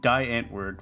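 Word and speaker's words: Die Antwoord: with a few controversial things but anyway and die ant word would be how we pronounce it over here because we don't know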